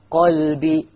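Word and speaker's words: قلب: For example, as Allah says in the Quran, وَلَكِنْ لِيَطْمَئِنَّ قَلْبِي لِيَطْمَئِنَّ قَلْبِي qa, qalbi. So the qa is coming from there. The kaf changes the whole meaning of the qalb.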